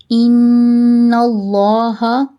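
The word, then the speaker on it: إِنَّ اللّٰهَ: Unna should always be done whilst pronouncing noon mushaddad. If the letter before the lam of Allah carries zabar, then the lam of Allah will be pronounced in thick tone.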